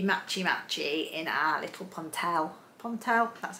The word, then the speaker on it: Ponte: alice can be matchy-matchy in our little ponte pontel that's how you say it um jersey tops